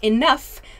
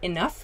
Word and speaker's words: enough: like enough for example so enough makes an f sound when we pronounce the word enough it sounds like an f at the end of the word but the spelling is